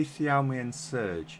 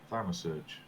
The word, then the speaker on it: Thaumasurge: So, how do you say Thialmi Surge? Am I wrong with that? Thaumasurge. Thaumasurge, right, okay.